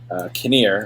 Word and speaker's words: Kinnear: Fact number 3: Greg Kinnear. That's how you say it? His last name. Yes, you got it.